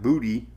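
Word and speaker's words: Boutte: I rode out the hurricane in Ida in Booty, which is so weird. They say it's like booty. So it's booty.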